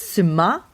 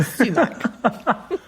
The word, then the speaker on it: sumac: It's suma, the emphasis on the second syllable, and you're not pronouncing the C. So no more are we going to talk about sumac.